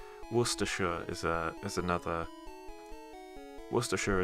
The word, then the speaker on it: Worcestershire: is a is another worcestershire is an acceptable uh pronunciation but war sister shire is incorrect worcestershire sauce or worcester